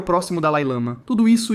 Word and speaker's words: Dalai Lama: estamos falando sobre o Dalil Lama, que eu acho que algumas pessoas pronunciam como Dalai Lama. Acho que essa é tecnicamente a pronúncia correta, mas eu falo americano. Então, vamos com Dal Lama.